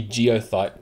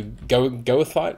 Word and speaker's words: goethite: It's almost like it should be geothite, but it's spelt with G-O-E, so goethite, whatever that is.